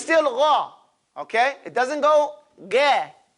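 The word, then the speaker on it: غ: Because it's still gha.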